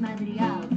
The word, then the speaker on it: Madrigal: I know it's called The Family Madrigal.